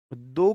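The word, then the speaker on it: the: दा का साउंड, दा प्रोनाउंसिएशन, दी प्रोनाउंसिएशन कॉन्सोनेंट साउंड के साथ दा और वॉवल साउंड के साथ दी आता है।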